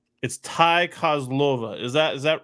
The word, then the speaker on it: Kozlova: And just for clarification, it's Ty Kozlova.